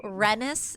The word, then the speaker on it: Renis: So it's like Dennis but with an R.